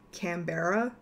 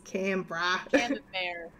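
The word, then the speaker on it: Canberra: never even heard of Cambra well Americans always pronounce it cbera and no it's camra um or how Americans sometimes say Melbourne Melbourne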